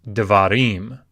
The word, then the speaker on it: devarim: The word davar is pronounced devarim. So you can hear devarim, devarim. And it's because the accent has shifted to the end of the word. That's one of the keys that we'll learn later. When the accent shifts away from a syllable, oftentimes a vowel will reduce. It will sort of go away. So davar goes to devarim. Davar to devarim. And that sound is the Sheva, devarim.